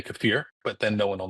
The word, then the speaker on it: kefir: I like kefir. Or if you want to pronounce it correctly correctly, which will sound like an affectation, you can say kafir, but then no one will know what you're talking about.